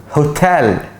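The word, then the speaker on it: hotel: اوعى انت حر الكلمه دي ها بص ها هوتال بص قلت ايه ها هوتال هوتال هوتال ماشي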